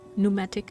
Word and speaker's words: pneumatic: Repair the pneumatic telegraph. I think the P is silent, right?